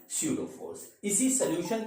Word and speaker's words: pseudo: हमने लिखा force स्यूडो यानी पी से लिखते हैं, ठीक है, पी इसमें साइलेंट होता है, जो अब लिखा ऐसे जाता है बोला वैसे जाता है।